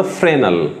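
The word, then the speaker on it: Fresnel: एक जिनका नाम था फ्रेनल। फ्रेनल को इंग्लिश में FRENEL बोलते हैं, इसमें एस साइलेंट होता है।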